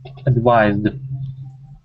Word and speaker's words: advised: now advice sounded good advised that was a little tricky we need to work on that V sound advised try that advised okay one more time